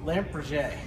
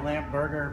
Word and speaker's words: Lampe Berger: do you say it lamp PR lamp PR I like saying that too L people say lamp Burger but that's I like lamp PR it sounds much more fancier for me so what